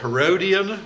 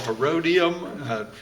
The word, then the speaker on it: Herodium: so again here is bethlehem you'll remember right next to bethlehem was herons fortress the herodian or herodium pronounced different ways south of the place